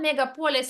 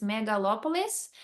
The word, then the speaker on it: megalopolis: So it's not megapolis like we call it there in our countries, it's megalopolis.